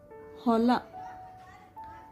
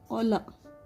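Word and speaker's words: ಹೊಲ: Hola. Hola means farm. This is O. Ola. Instead of hola, they say ola. There is no word called ola also.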